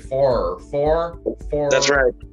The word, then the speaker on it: Farrer: with my friend andrew farr pronounced not like nearer but far far okay that's i mean